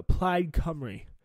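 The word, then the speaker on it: Plaid Cymru: implied comrade that's how you say it uh plaid comrade on um eight so that's the welsh national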